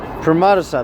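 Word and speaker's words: Premadasa: Pramadasa, that's how you say his name.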